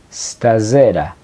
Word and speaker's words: stasera: noche se dice stera stasera la s al principio no lleva una e antes sino que se pronuncia de la s stera Entonces cómo se